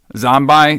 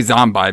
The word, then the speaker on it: Zombi: the the zombi and I say zombi because they they they don't they don't keep the E yeah it's supposed to be pronounced zombie but it's like it's like